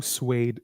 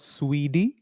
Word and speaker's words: suede: Elvis Presley didn't write blue suede shoes. So, how do you pronounce this word? Suede. Not Swede, suede.